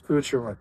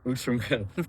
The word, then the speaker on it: Outremer: And listen, I mean, make sure when you come up and you talk to them, you know how to pronounce the name right. It's Outremer. Outremer.